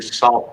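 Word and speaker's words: Sault: love the way dorinda's where she lives is pronounced it's what saint is yeah that's actually spelled different there's s-a-u-l-t to salt marie there's sue s-i-o-u-x you know from the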